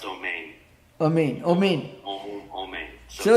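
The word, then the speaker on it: אמן: Maharaj in Hebrew, it's pronounced Omein.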